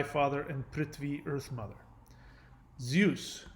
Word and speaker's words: Zeus: and pretty earth mother zeus Greek pronounced Z use D Z the so the Z is pronounced like D Z cognate with Vedic DA